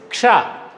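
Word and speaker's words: क्ष: Ka, sha, ksha. So this is formed of two letters. That's the reason it should be pronounced as ksha.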